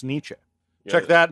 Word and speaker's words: Nietzsche: we're on the topic, his name does not look like it would be pronounced Nietzsche.